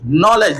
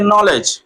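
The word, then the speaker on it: knowledge: है कनलेज लेकिन पढ़ेंगे नॉलेज के साइलेंट हो गया क्योंकि के बाद एन आ गया के एन ओ सी के लिखा है कनोक लेकिन पढ़ेंगे नॉक क्योंकि के बाद एन आया तो के साइलेंट के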